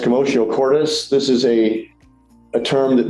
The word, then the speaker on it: commotio cordis: So at the top of the screen is a term pronounced commotio cordis.